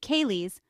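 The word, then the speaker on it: ceilidh: of a traditional Scottish keid a social Gathering centered around folk music and dancing teids pronounced KES are a vibrant part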